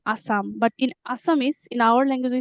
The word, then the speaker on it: Assamese: But in English, Assam, Assam, And the language is Assamese, right?